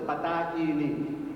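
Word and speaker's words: بطائنی: علی بن حمزہ بطائینی، جو صحیح عربی تلفظ ہے بطائینی، بے تو الف یہ نون یہ بطائینی، اس کا انتقال ہو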